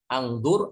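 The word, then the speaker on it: اُنْظُرْ: Kalau ini angdur atau ungdur atau ingdur? Ungdur. Ya, ungdur. Kenapa ungdur?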